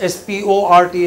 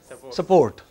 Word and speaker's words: sport: Yeah, they don't pronounce S-P-O-R-T as sport. They pronounce it as support.